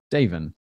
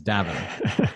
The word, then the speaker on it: Daven: for the longest time i mispronounce his name in my mind as davon and it took a long time getting used to the fact that your name has a soft a but then everyone else